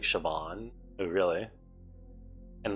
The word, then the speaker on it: Siobhan: okay here you go it's like sioban sounds like Siobhan oh really and like